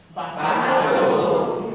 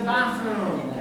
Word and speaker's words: bathroom: Bathroom. Yes. This is the bathroom. Now, real quick, what sound is this? Bathroom. Bathroom. Bedroom. Bedroom. Be very careful. Many students pronounce these vowels the same.